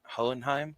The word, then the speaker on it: Hohenheim: actually I don't know it's hohenheim right hohenheim that's it that's it her like almost like the second H is uh silent yeah he told me